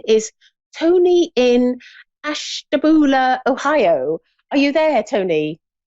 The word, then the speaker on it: Ashtabula: to speak and her name is Tony in Ashtabula Ohio are you there Tony yes I am hello I don't know if I pronounced that right Ashtabula is that is that yeah that's correct oh